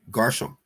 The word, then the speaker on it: Gershom: Garsham in the Paleo pronunciation.